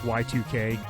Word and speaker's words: Y2K: a game called yik i like to call it yik but it's pronounced y2k and it was a